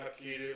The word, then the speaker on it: Hapkido: But your old karate, your taekwondo, your hapkido, like that sort of Hapkido? Korean, yeah, it's Korean, that's how it's actually Oh, pronounced.